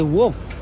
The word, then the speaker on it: Wharf: How to say wolf? Wharf.